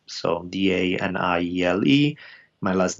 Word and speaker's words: Daniele: So my name is spelled like Daniel with an E at the end, Daniele. So Daniele.